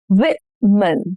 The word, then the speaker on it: women: Stress on the first syllable. Women.